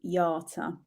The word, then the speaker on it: Jata: Is it Jada or Jata? Do you know what? It's actually Jata. Because it's an Albanian spelling, yeah.